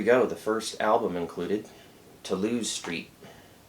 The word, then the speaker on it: Toulouse Street: And here we go, the first album included, Toulouse Street. I'm using the French pronunciation.